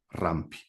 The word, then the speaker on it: Rampi: Así se escribe con B corta. Fulvio Rampi, como rampa.